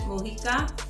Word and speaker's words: Mujica: and it's by Barbara Mujica that's how you pronounce it Mojica so anyway let's just see what this is